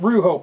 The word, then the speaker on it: Rujo: Rujo, pronounced Ru, R-O-O-Ho, H-O, is the Spanish word for roar.